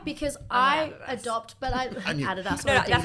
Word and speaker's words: Adidas: enemy but why because I adopt but I Adas that's how you say it I'm a Nike